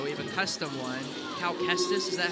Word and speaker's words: Cal Kestis: Cal Kestis, is that how you say it?